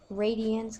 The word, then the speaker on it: radians: you will notice that radience kind of sounds like the word radius and it is based